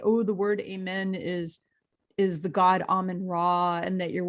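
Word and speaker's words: אָמֵן: And because in Hebrew it's amen. That's how it's pronounced. Not amen, not amen or amen. It's amen. It's kind of like AHMEIN would be how you would phonetically spell it out.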